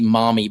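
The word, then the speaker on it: Maumee: the window it's dark now we can see mommy bay which is a real I mean it's spelled m a u m e.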